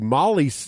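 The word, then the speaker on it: MOLLE: my battle foam uh XL bag with the Molly strips on the side there and they Craig we know how to pronounce it now Molly olly Molly Molly Molly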